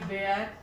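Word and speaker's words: ware: देखिए डब्ल्यू ए आर ई वेयर, वेयर means क्या होता है, बर्तन।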